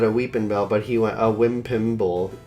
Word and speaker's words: Weepinbell: Wimpimble. Which came from Jordan's awful misspelling of Weepinbell, or mispronunciation. A criminal mispronunciation. Yeah, he said a Weepinbell, but he went a Wimpimble, and then we said, is that Meowth's name?